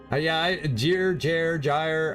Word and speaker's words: gyre: Gyre. I've never. I know it's a soft G, not a hard G.